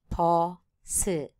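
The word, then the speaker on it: 보스: number one is boss the ending consonant s will not be pronounced in Korean therefore they need to form another syllable for this for this purpose of our o is added and it became two syllables por su posse number two radio in korean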